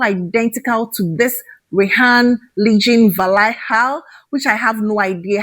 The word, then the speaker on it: Valhalla: Rayhaan Legion Valaha, I think that is how it's pronounced.